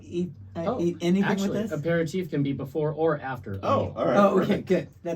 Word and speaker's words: aperitif: how do you pronounce that? Aperitif.